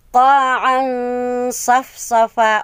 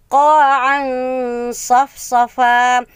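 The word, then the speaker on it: قَاعًا صَفْصَفًا: So, ang tamang bigkas is qa'an safsafa. O, diba? Miat nun na ay tundugakan a litra kung nun apatay na sod. Diba? Qa'an safsafa. Qa'an safsafa. Huwag mong bibigkasin na qa'an. Mali. Dapat na qa'an safsafa.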